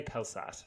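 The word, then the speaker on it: Pelsaert: and Senior Merchant Francesco I didn't know how to pronounce impelsat Pals spelling p-e-l-s-a-e-r-t pills I would say maybe start but that sounds a bit French we'll say pelsat that's okay and with Aryan Jacobs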